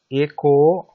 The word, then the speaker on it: eko: Red color E is long. It's pronounced like A in fate. A. So A ko. A. And blue color O. There's two O's. Blue color O. Also long. It's pronounced like O in dog. O.